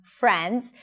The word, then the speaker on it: friends: So again watching friends stress is on friends. Notice the R sound here round your lips and make sure that the transition between the F and the R is smooth.